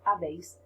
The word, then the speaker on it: habéis: Okay, and this is silent, so it's has, a, hemos, habéis, han. The H is silent, as you know already.